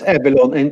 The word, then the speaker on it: Evilon: Yeah, you can say Evilon or Avalon or whatever you want. Oh, okay. Yeah. Cool. We have it because it's evil. Evil, yeah. Exactly. In Sweden, it's Evilon, and international, it's Evilon.